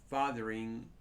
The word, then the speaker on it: Fotheringhay: Fotheringhay is Fotheringhay. It is pronounced.